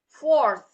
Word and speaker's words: fourth: Oke, fourth. So there, fourth. Fourth. Oke, jadi seolah-olah ada angin yang keluar dari pengucapan tersebut.